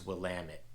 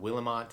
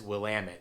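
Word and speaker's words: Willamette: the first one we're going to tackle is wamit it is the pronunciation is popping up on the screen so if you see wamit River wamit Valley uh that's how you pronounce pronounce it it's not willamont it's not willit uh I don't know there's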